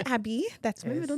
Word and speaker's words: Abby: It is Abby, the way that I spell it, not EY and not ABI, which is what all the Nigerians want to call it or spell because of what name? Abiodun is what I assume, right? I guess many Abbies in Nigeria go by ABBEY, and they also pronounce it Abe. But I'm Abby.